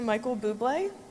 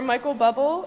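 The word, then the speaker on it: Michael Bublé: make him cringe but to Michael bé or Michael bubble as John pronounced it as he read your name on Twitter my husband had no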